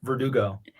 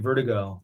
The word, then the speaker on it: VRDGO: shorter name just ver verdugo like our last name yeah but but i noticed a lot of people i'm glad you asked because a lot of people are saying vertigo lately so that's okay